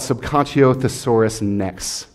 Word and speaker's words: Subconscio Thesaurus Nex: 99, and it's called Subconscio Thesaurus Nex, and it's rhythmically pronounced like Tyrannosaurus Rex, but subconscious, thesaurus, and next.